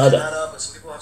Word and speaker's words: Kannada: I was told it's pronounced Kannada, but some people have said Canada.